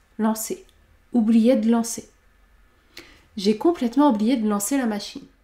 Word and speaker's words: complètement: Le E de complètement n'est pas prononcé puisqu'il y a une seule consonne devant. Complètement, complètement.